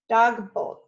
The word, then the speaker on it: dagboek: Susan Stamberg, how do you say diary in Dutch? Ms. Mike Guys, dagboek. Stamberg, dagboek. Oh, daybook. Yeah, Ms. Guys. Yes, daybook.